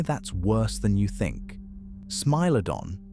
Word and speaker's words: Smilodon: Smiledon, pronounced smmy y lodon, didn't hunt like a lion.